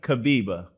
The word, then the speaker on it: Kibibi: I know you told me, so I'm glad I pronounced it right. So now I'm going to try the last name. Go ahead. Kibibi.